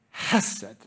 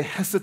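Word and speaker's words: חסד: steadfast love comes from this Hebrew word known as hasit okay you have to like spit and use a lot of air to say it properly yes said okay can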